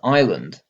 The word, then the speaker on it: island: And that's how a mistake in figuring out the word's history led to island having a silent S.